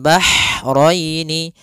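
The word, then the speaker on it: بَحْرَيْنِ: Kemudian bahraini, ha, ini hanya ha kecil, hati-hati jangan terbaca dengan ha besar, jangan marajal bahraini, jangan, karena dia huruf ha kecil.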